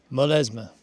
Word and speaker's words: Molesme: How would you pronounce that? Burgundy. Molesme.